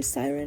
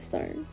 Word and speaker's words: Syrn: This brings us to Siren, which I keep having to correct myself and say Siren instead of CERN.